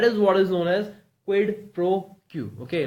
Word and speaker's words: quid pro quo: It's quid pro quo, and it's a noun, and the pronunciation is it's quid. Okay, then pro, it's quid pro, and quo, it's quid pro quo.